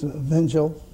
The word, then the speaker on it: Vinjal: It's Vinjal. Vinjal. In Albanian